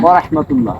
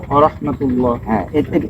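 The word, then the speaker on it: ورحمة الله: আসসালামু আসসালামু আলাইকুম আলাইকুম ওয়াহমাতুল্লাহ ওয়া রাহমাতুল্লাহ এটা মনে রাখতে হবে তাহলে আমি আবার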